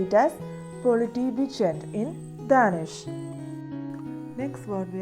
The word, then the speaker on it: politibetjent: TJ is pronounced like a soft CH sound in chew.